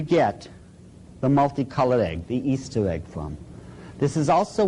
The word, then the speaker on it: Ishtar: A lot of people thought it was Ishtar. But if you check the original transliteration, the Babylonian one, it is still pronounced Easter to this very day.